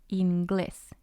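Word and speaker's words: inglés: it means english and it has two syllables glass is the first one in is the second one the rule says that the stress should be on the second syllable so it should have been ingles ingles but it's not it's ingles but we have to put the accent on the vowel of the first syllable so that we know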